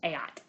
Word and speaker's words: eat: Don't be silly and pronounce the third person singular as eat. You pronounce it as aat in Latin.